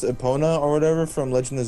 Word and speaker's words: Epona: What's it pronounced? Epona or whatever from Legend of Zelda, the horse. E P O N A.